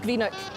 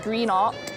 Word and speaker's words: Greenock: It's a wee map of Greenock.